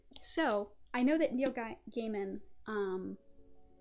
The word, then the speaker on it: Gaiman: i know that neil gaiman um growing up i always pronounced it gaiman but i think it's pronounced gaiman so you might hear